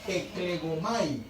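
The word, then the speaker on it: ἐκλέγομαι: Esta palabra en griego se dice eklegomai.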